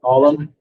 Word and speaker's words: Alum: And we're filling that position with Mr. Alum, is how you pronounce it.